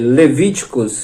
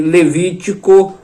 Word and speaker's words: Levítico: Assim também Levítico e não Levíticos. Levíticos é errado. A pronúncia correta é Levítico, no singular.